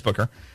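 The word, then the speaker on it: Bucher: Susan Booker, sometimes called Butcher because people didn't know how to pronounce her name nationally, but it's Booker, in Palm Beach County, and Brenda Snipes in Broward County.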